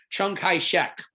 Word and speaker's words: Chiang Kai-shek: was this gentleman right here his name is pronounced chung chung kai shek and he is going to be leading the